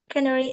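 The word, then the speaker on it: scenery: Because it has beautiful scenary and amazing natural viewers. Thank you. Thank you. Thank you so much. Alright. Ya, pemandangan memang tulisannya scenary, tapi bacanya scenary. Scenary. Jadi, C-nya enggak dibaca.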